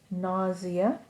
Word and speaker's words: nausea: I want to look at this one the pronunciation is nausea and together with nausea all almost always is vomiting not always but